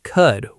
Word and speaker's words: could: Many learners pronounce the L sound too strongly in could, would, and should. In natural, fast speech, these words are often pronounced more like could, would, and should. The L almost disappears.